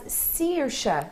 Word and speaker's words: Saoirse: Saoirse, normally pronounced as Saoirse.